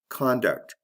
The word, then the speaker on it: conduct: Conduct, conduct. Did you hear that? There's a difference in the vowel in the first syllable. Con and kun.